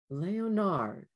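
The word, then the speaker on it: Léonard: He said it with a French accent, three syllables. Leonard. Jules imitated his pronunciation, facing the bird.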